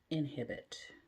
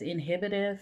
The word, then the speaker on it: Inhibitif: Inhibit. Oh, I should say it right. Inhibitif.